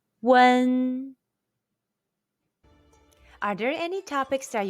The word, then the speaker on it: wen: a chinese surname question when you see you and first stone and w-e-n first stone in ping in how would you pronounce them the answer is one are there any topics